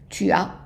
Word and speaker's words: tu as: And then for tu as, so we said that tu as, when you have a U followed by a vowel, there's a pronunciation of a Y in there, tu as.